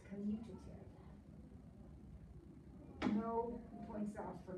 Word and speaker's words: commutative: commutative property of multiplication notice by the way there's no n in that word it's not communicative it's commutative no points out for